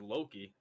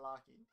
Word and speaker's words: Loki: that's that's so bad it's not even pronouncing it it's a Loki not locking okay that's my little